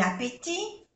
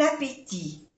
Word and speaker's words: appétit: Aquí bon appétit, buen provecho, bon appétit. Se utilizará bon masculino singular porque appétit es masculino singular. Appétit. No se pronuncia la T final.